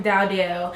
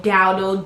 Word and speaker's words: Dowdell: of my last name my last name is dowdell and i guess she was saying dowdle doodle i i didn't